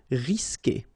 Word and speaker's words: risquer: Okay, you don't pronounce the U, so risquer.